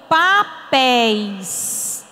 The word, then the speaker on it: papéis: olhar no por exemplo eu digo assim ó papéis PIS eu pronuncio com mais intensidade com mais força todas as palavras que